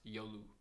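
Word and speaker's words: 夜: Yoru. Night. Pronounced yolu.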